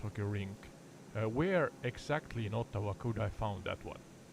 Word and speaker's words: Ottawa: the correct pronunciation is Ottawa all right awawawa sorry y uh redo Canal Skateway I'm using the wfr map here it's pronounced with the emphasis on the first syllable yeah thank you enough